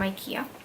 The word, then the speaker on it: IKEA: You know, I actually pronounce IKEA as IKEA because I'm Malaysia. Because I'm a Malaysian. I'm Melayu, so I say it as IKEA. But I don't know, people pronounce it IKEA, so I'm trying to fit in, so IKEA it is.